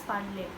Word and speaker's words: parlez: When we say PARLEZ, it's pronounced as parler.